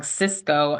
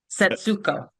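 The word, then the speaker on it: Setsuko: And backing up and I know I say her name wrong. Cisco is what I say which is a phone system and I know that's wrong. Setsco. Okay. Sets. Three syllables. Seco. That t satsuko.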